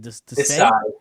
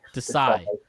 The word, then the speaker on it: Desai: Desai. Desai.